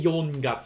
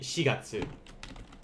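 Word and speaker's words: 四月: um for this one you're not going to say yolongatsu it's just going to be shigatsu if i guess i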